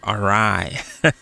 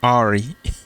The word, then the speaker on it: awry: the weather all right I recently learned how to pronounce that word arai I used to call it Ari okay that's by the